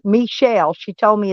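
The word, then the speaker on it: Meshell: Oh, I was pronouncing it wrong. It's Michelle.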